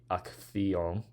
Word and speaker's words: acción: Acción. Again, accent on the O because we still pronounce all this as one syllable, but it doesn't follow the stress rules. If we put it on the I, it will be acción, and we don't want it to sound like that. It's acción, just 2 syllables.